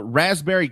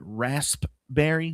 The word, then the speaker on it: raspberry: It's also National Raspberry Cake Day. Is it rasp-berry? Do you say rasp-berry? Do you pronounce the P in rasp-berry? That I just think that that'd would be weird if we did raspberry.